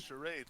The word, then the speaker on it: Charade: Charade, like the game.